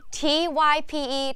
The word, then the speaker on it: type: ก็ ต้อง พิมพ์ tye t yp e type อย่า ลืม ออก เสียง เพ ตัว P นะ คะ ตอน ท้าย คำ ด้วย หลัง จาก พิมพ์ แล้ว